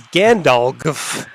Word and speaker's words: Gandalg: we've never seen him his name is gandalg it's pronounced like Gandalf but there's an extra G in there at the end oh nice gandolk raises